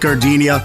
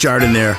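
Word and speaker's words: jardinière: Hey guys, when you're at the counter, don't call it Gardenia. It's pronounced Jardiniere.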